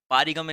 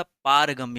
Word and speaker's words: पारगम्य: पर पारगम्य लिखा है पारगम्य नहीं होता पारगम्य होता है पा पे बड़ा की मात्रा लगता है तो यहां पर जो